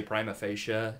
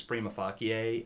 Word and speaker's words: prima facie: Now, the Latin phrase for that, debaters always pronounce wrong. They always say prima facie, and the Latin pronunciation is prima facie, and the translation is on first face.